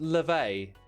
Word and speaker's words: Laufey: It's pronounced Levay, the mother of Loki.